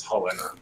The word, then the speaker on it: Chulane: three can can Chulainn how what's the correct pronunciation for that it's it's Holi Holi okay whatever can hole in target himself